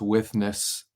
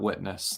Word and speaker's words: withness: of God's graceful withness that's withness not witness that's not a mispronunciation God's withness and I